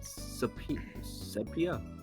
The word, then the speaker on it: Sepia: It's pronounced sepia, thanks.